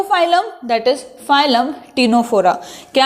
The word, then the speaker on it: Ctenophora: That is phylum टीनोफोरा। क्या है phylum? Phylum टीनोफोरा। और ये जो टर्म है टीनोफोरा, सी साइलेंट है, ठीक है, इट was given by S bolts.